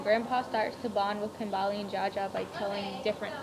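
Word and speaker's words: Kambili: And one quote that I found which is on page 131, is taught Kambali. I think that's her name. That's how you say it, Kambali.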